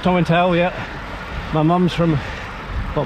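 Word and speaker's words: Tomintoul: Tom and tail towel I wondered how it was said oh it's pronounced Tom and towel yeah my mom's from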